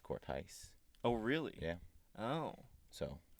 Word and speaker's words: Korthuis: what do you get Court due east Oh French Court ice mm-hmm which that's kind of technically how you pronounce it kind of thing yeah